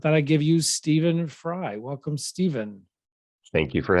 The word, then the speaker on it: Frey: steven so yes and last name is fry did i say that right yeah you said it correctly okay because it's f-r-e-y